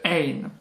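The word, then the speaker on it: غ: Le ein, qui est prononcé comme un R qui vient du fond de la gorge.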